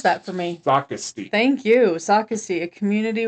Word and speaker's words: Socastee: Peachtree Landing is a small, remote boat ramp located in, pronounce that for me. Socastee.